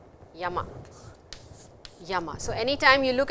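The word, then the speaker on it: 山: There are two readings for this character, yama and sun.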